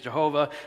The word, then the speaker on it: Yahweh: with people about this some say Yahweh King James says Jehovah yahovah look uh we're we're talking about four consonants and doing the best we can the pronunciation I've landed on is Yahweh so if you hear